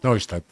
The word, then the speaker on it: Neustadt: Neustadt. Neustadt, lo pronunciás en alemán.